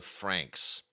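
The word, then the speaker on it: FRANXX: is Darling in the Franks Franks is spelled f r anxx this is a really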